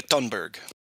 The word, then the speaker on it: Thunberg: look look at that I do believe the H is silent you guys Greta thunberg yeah great October I